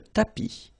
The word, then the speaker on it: tapis: la table, le tapis, remember final S not pronounced, le tapis, le canapé, la bibliothèque, la cuisine.